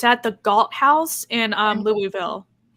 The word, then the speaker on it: Louisville: We have to teach people how to say Louisville. Wait, how do you say Louisville? Louisville.